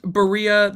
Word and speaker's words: Barilla: Pronounced Barilla. The people in the commercial say it that way.